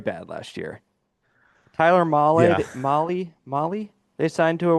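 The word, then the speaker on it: Mahle: Tyler Molly. Molly, you're right.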